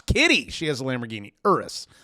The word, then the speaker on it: Urus: she has a Lamborghini urus that's how you pronounce it urus the thing is always